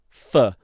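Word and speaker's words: pho: I really like a Well, I I pronounced it fo and you told me it's like f fur.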